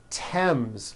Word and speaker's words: Thames: spelled with a th they are pronounced as if they were spelled with a normal t like that and these words are thomas thompson Teresa Thailand Thames like the river Esther